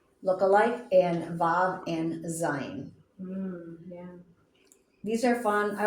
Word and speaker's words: Zayin: So, but sometimes when it is that consonant vowel, it's not gonna sound like a V at Zayin, Zayin. Z Z, as in zebra.